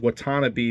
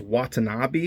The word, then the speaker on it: Watanabe: I kept saying Watanabe because Cam was a want-to-be ranger. In an interview with Erica Fong, she says Watanabe. Apparently I'm saying it wrong, and they also say Kia instead of Kaya.